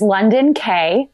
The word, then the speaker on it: London Kaye: Well, my name is London Kaye, London like the city.